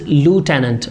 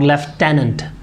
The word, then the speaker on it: lieutenant: in our country normally people they say left didn't wear the true word is lieutenant or leftenant so this is the